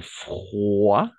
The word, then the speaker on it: froid: ici où il fait froid d'accord froid froid toujours la combinaison des voyelles en haut et i on va toujours prononcer roi d'accord donc froid il fait froid d'accord